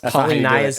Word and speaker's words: Polynya: Turns out that is not how you pronounce Polynya's name. It's Polynya.